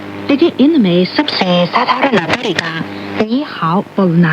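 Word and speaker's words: 你好: नी का उच्चारण हिंदी में नी के बराबर है और हाओ का उच्चारण हाओ के नजदीक है।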